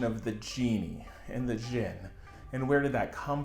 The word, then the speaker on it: djinn: The general term genie has evolved from what we call Jinn, or sometimes with a silent D, like Jinn.